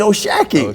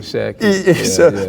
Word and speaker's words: O'Shaquie: They're like, no, it's Oshaquie. Oshaquie. So do you have to explain to people too about it all the time? Yeah. You know, I got to correct them. But, you know, the way it's spelled, I understand. But we just let them know it's Shock.